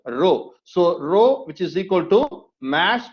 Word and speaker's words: rho: the greek letter rho so it should be pronounced with the letter rho so rho which is equal to mass over volume the